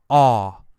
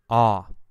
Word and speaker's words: awe: wow amazing incredible Wow that feeling we call awe awe and the word awesome comes from this this